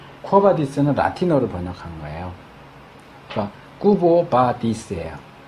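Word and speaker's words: Quo Vadis: 그니까 코바디스는 이제 영어식으로 코어바디스 한 거지만 이게 라틴어로 이제 q유 이렇게 되면 꾸부 이렇게 발음이 돼요. 쿠보 쿠보 어디로 아 인물이 아니고요.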